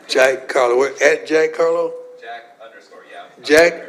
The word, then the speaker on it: Jack Carlo: Jack Harlow. Oh, Jack Harlow. Did I say it right? Jack, C-A-R-L. Carlo. See, I messed it up again. Jack Carlo.